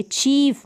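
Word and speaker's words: chief: जैसे कि सी एच को तो आप च पढ़ देंगे, चीफ। लास्ट में तो ईफ बन रहा है, चीफ, ग्र ईफ, ग्रीफ, relief, relief, थीफ, इस तरीके से।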